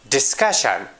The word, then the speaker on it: discussion: If a word ends with CIAN, CION, and TION, then the stress comes on the second to last syllable of the word. Means, before the last syllable, we put stress on the word.